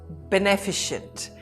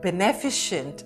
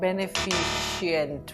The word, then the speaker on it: beneficent: Now be careful for the pronunciation of this. It's beneficent and not beneficient, which is what I hear.